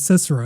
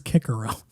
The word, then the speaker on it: Cicero: german word kaiser cicero interesting that dude's name wasn't cicero it was kikerow that's that was his name uh so i just read it like latin and i got it right apparently which makes